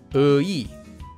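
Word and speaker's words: 의: It's pronounced ui, ui. However, this diphthong is an exception. If you write this diphthong using the empty consonant, you can say it as ui. But if you use any other consonant there, this diphthong is more often simply pronounced as e.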